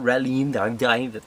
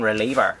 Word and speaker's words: Reliever: It's not Relieve, it's fucking Reliever.